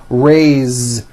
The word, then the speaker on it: raise: a bit unusual because even though it is spelled with an s it's pronounced with a voiced z raise so we say i